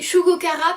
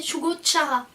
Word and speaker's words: Shugo Chara: On a dit Shugo Kara puis Shugo Chara, mais c'est Shugo Chara.